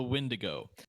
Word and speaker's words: Wendigo: The Wendigo who? The Windigo.